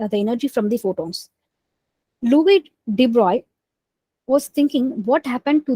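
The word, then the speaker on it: Louis de Broglie: of light so uh deep broccoli uh I mean we have to pronounce him as Louis debris okay um in the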